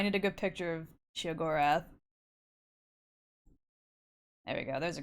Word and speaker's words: Sheogorath: Okay, now I need a good picture of Sheogorath. There we go, there's a good one. Pesto. When was the last time someone threw bits or subs? Last stream. Last stream was the last time. Sheogorath, not she.